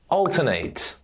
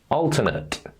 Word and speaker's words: alternate: is a duplicate associate alternate activate create animate debate and accelerate as a verb we pronounce ate like the number eight however when we are